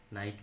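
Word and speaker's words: knight: এরপরে নিয়মটি হচ্ছে শব্দের শুরুতে যদি কে এন থাকে তাহলে তার উচ্চারণ দন্ত ন এর মতো হয়, এক্ষেত্রে কে উচ্চারণ হয় না। যেমন নলেজ মানে জ্ঞান, নাইট মানে অশ্ব, নি মানে হাঁটু।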